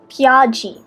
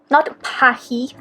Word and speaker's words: Piaggi: Piaggi. That's how you say it. Not Pahi. Not Pagi. Pagi.